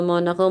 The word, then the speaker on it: Monaco: yung mona ko eh kaya totoong pronunciation Monaco Monaco ba nagviena pa siya sabi